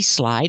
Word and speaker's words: slid: So slide, you have the long I, like I slide. And slid in the past, you have the short I sound, like this is.